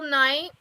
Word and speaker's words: Knight: and it's by Nicole Knight and Nicole is spelled n i k o l e n as in like k n i you know like like night and shining armor oh